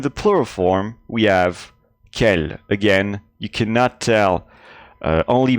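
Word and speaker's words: quel: have masculine and feminine singular masculine kell plural scale same pronunciation same pronunciation for the feminine you notice that i'm not saying i'm saying k just like the masculine form and in the plural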